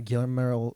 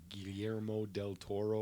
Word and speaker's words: Guillermo del Toro: on Netflix Netflix original and it's written by Gayla Merrell yeah I can't ever say his name yeah Guillermo del Toro yes thank you thank you Bob that's one